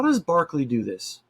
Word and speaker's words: Berkeley: how like we have UC Berkeley it's actually named after this guy right here Berkeley it just pronounced differently so in actuality it's